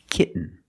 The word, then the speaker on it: kitten: We have to make a stop T and link it to the N. Example, kitten.